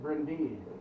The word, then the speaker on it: Bryn Du: was very proud of his wealth heritage brent bryndew it used to be it was it was called uh it's pronounced it brendee and it's welsh for dark hills the dark